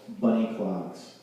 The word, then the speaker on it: Bunny Clogs: I've got a kids group with my daughters called Bunny Clogs. Rhymes with honey dogs.